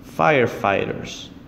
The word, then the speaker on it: firefighters: is going to be firefighters gh is actually silent and calm L is